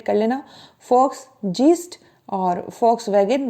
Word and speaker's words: Volkswagen: क्योंकि ये जर्मन थे, और जर्मन में जो वी होता है उसको एफ ही पढ़ा जाता है। आपने एक पॉपुलर कार ब्रांड है जिसका नाम है VOLKSWAGEN, जिसको प्रोनाउंस किया जाता है वॉक्सवैगन। आप कभी भी उसका जो है एडवर्टीजमेंट देख लीजिएगा, वहाँ वोल्क्स वैगन ऐसे नहीं बोलते, फोक्सवैगन बोलते हैं, मतलब लोगों की कार।